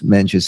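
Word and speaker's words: Mencius: Just like there's Confucius, this is Mench. And Mench was a disciple or a follower of Confucius.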